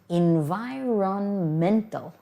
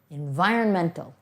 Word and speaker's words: environmental: the real word is environmental environmental most people you won't hear that o n in the middle but don't miss it